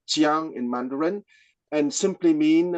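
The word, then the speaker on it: 将: A shogun is the Japanese pronunciation of a Chinese character, with what is pronounced jiang in Mandarin, and simply mean a general.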